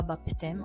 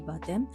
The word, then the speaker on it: baptême: Attention pour le P, ça se prononce pas. On dit pas baptême, on dit baptême.